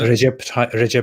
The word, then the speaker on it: Recep: Recep Tayyip Erdogan. Recep. Yeah, Recep Tayyip Erdogan. That's how you say it. Why do they spell it with like a C? That's C is J in Turkish.